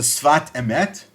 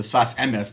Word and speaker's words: Sfat Emet: book known as the Sfat Emet. The Sfat Emet, or the Sfas Emes, depending on how you pronounce it, was written by Rabbi Yehuda Aryeh Leib Alter, the Ger Rebbe.